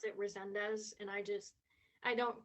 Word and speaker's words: Rezendes: Um, how do you pronounce your last name? Rezendes. A lot of Rezendes. people pronounce it Rezendes, and I don't correct them.